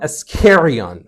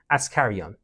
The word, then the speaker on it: Askarian: person cannot read that how did they pronounce it do you know ardolon ascarion how should it be ascarion I can't tell the difference um